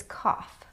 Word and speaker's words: cough: The next word is cough.